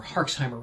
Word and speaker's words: Herxheimer: so what they call it is the jerish herxheimer reaction or hexheimer reaction is a much more specific way if